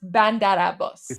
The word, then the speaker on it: Bandar Abbas: So, now that we know it's pronounced Bandar Abbas.